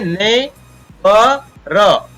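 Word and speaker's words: neighbour: Next है यहाँ पर इसको इसी प्रकार पढ़ेंगे ने ब र, ओ यू से यहाँ पर अ बन रहा है, तो ने ब र, जी एच यहाँ पर इस प्रकार साइलेंट रहता है।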